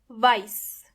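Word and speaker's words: weiß: with s but actually they are written with s set even though the pronunciation is completely similar for example vice vice means white fball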